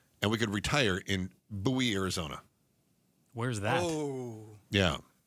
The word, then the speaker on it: Bowie: No, it's Bowie. It's named after the frontiersman, not the English pop star.